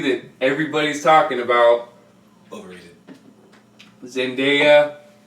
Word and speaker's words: Zendaya: everybody's talking about Lord zendaya yes that's how you pronounce it not sandhaya is gonna be Mary